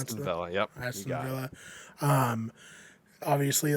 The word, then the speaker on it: Aston Villa: Is that how you pronounce Aston that? Villa, yep. Aston Villa.